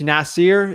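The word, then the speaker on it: Nasar: real estate Duru uh it's uh it's nasier is the way you say it but it's n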